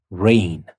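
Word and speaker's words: reign: we say neighbor and in rain we have re e i g n but also the g is silent so we say rain and vain in the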